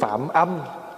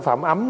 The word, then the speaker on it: phạm âm: về sau được tướng Phạm âm phạm âm chứ không phải phạm ấm nghe đó Thí dụ chữ vậy mà nếu mà người không biết thì cứ đọc là Phạm ấm còn mình biết thì mình đọc là phạm âm bởi vì âm đâ là là gì là âm thanh Còn chữ phạm là